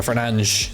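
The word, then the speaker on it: Fernandes: Portuguese pronunciations, they're pretty funny. It's like Bruno Fernanch.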